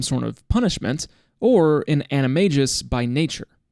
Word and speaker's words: Animagus: an animis by Nature you guys made fun of me for mispronouncing that in my other video so I looked it up and half you don't even know how to say it so I'm not accepting criticism on the pronunciation of animis it's that's what it is JK Rowling said it herself anyways so Mrs Norris